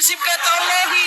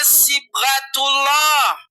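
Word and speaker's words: صبغة الله: Aduh, bukan sibata Allahi. Aduh, baca Quran aja enggak bisa ini orang. Aduh, bacanya sibghatullah.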